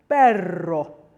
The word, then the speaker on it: perro: And then when you have a double R, you need to roll it quite a lot. So we have perro, perro, and really savor that because it gives it the Spanish feel.